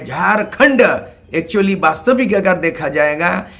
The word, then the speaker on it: झारखंड: तो ये जो झाड़ है शब्द, झो में आकार र और खंड जो है झारखंड, एक्चुअली वास्तविक अगर देखा जाएगा इसका उच्चारण, इसका प्रोनाउंसिएशन ये झाड़ नहीं है, ये झारखंड है।